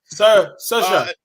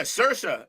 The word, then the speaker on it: Saoirse: And it's not pronounced any way the way it's spelled. Like, that's outrageous. How's it pronounced? Saoirse. Yeah, Saoirse is what Bree is telling us.